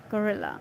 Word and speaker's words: guerrilla: Let's see this word, how to pronounce it. Gorilla. It's like gorilla.